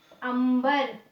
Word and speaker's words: अंबर: तो यहाँ पे अगर इसके पहले किसी वर्ण में हमने अनुस्वार, हमने ये बिंदु लगाया है, तो उस बिंदु का उच्चारण हम म की भांति करेंगे, अंबर, कंपन, कंपन, ठीक है, या फिर आरंभ, ठीक है ना, इस तरीके से इनको लिखा जाता है।